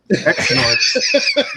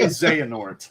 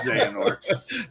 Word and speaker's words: Xehanort: I can't even pronounce that word. Xort. That would be Xehanort, my friend. His name is Xanort.